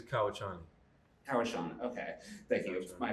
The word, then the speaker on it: Kauchani: And Kashani, am I pronouncing it right, Kashani? It is Kauchani.